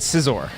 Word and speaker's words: Scizor: do you pronounce it do you like caesar or scizor i always said scissor you said caesar like in a cool way yeah pretty much i